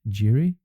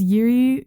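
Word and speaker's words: Jiří: Okay, so you chose, I pronounced this name, Jiri? His name is Yuri Krejcirek.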